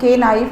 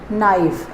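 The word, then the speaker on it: knife: start हो रहा है इसमें के साइलेंट है इसका जो प्रोनंसिएशन होगा वो के नाइफ नहीं होगा दिस इज नाइफ ऐसे ही नॉलेज नॉलेज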